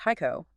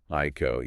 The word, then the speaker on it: Hico: We're focusing on the redevelopment of the Lake Haiko property in Jackson. And just for clarity, it's pronounced Haiko. Haiko.